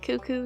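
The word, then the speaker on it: Cucco: Taking inspiration from Zelda, our new chicken would be named Kuko. I have heard some people pronounce that cuckoo, so disregard my personal pronunciation if that's you.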